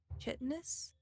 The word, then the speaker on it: chitinous: It bounces off of this chitinous exterior. Mhm. Chitinous? Chitin? Chitinous is right. Yes, got it right. I've first said try. it both ways. I've heard it both ways.